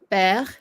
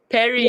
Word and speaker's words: père: Père, because it has the accent on the first E, so you have to say père. Because otherwise, how would you say it? If you saw this word, how would you say it? Perry. Yeah, because you're trying to say it as an E, right? But because there's an accent there, so you change the pronunciation to e.